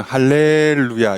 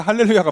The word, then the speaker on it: 할렐루야: 굳이 여러분 정확하게 발음하려면 할렐루 하고 잠깐 늘어뜨린 다음에 야를 붙이는 게 맞아요. 가끔 이제 어떤 분들은 할렐루야 이렇게 하는데 그거는 발음상 잘 못하신 겁니다. 정확히는 할렐루 하고 야를 붙는 게 맞고, 아니면 그냥 할렐루야를 한 번에 붙이는 게 맞습니다.